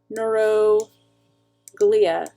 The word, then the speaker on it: neuroglia: not always in science the emphasis goes on the third from last syllable so it's neuroglia but then when you put it together it's neuroglia it's a thing it's it's